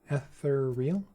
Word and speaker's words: ethereal: There are 4 syllables in ethereal. Did I not say ethereal? Ethereal?